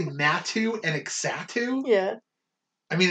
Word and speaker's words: Natu: so curious anyway uh natu matthew yeah not too that's not let me do the next one too it's natu and exotic you do what